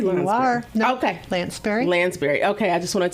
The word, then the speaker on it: Lanspeary: And I'm pronouncing that correctly? Lanspeary? You are. No, okay. Lanspeary.